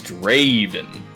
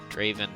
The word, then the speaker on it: Draven: His name is Draven. Draven. Not Draven. Draven. Okay. Is He's he very particular about how it's pronounced.